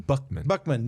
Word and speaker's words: Buckman: Buckman, BJ Buckman. It's spelled like Buckman, but it's Bookman.